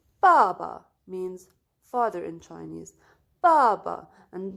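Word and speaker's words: 爸爸: in chinese baba and notice guys here that i pronounced the first one was with the tone but the second one was with the zero tone this one was with the second tone okay so baba okay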